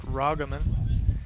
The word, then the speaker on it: Ragaman: I'm hearing now that number 16 that that name is pronounced Ragaman.